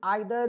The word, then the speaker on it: either: है कि each, every, आइदर, नाइदर, एनी या नन। कहीं कहीं पे इसको ईदर या फिर नीदर भी पढ़ सकते हैं, दोनों प्रोनाउंसिएशन इसका सही है।